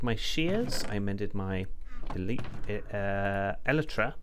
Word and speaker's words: Elytra: I mended my shears, I mended my Elytra, that's it, Elytra, that's how you pronounce that.